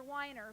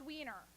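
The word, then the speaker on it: Weiner: over to me and my doctor's name is dr. Wyner but it's spelled WEEI and ER and I'm a mom and where I'm from that's pronounced wiener so she then goes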